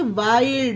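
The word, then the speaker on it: wild: उसी तरह से वाइल्ड, वाइल्ड में भी ला की ध्वनि निकल रही है।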